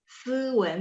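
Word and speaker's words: 斯文: 斯文 kalau SI dia nggak, lidahnya biasa aja, jadi 斯文。诗文。斯文 biasa aja ya, 斯文. Kalau nomor 6 SH baru lidahnya diangkat.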